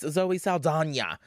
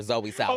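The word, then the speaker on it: Zoe Saldaña: Maybe you can be the next Zoe Saldana. Because that's how you say her name now. Not back in my day, we called her Zoe Saldana.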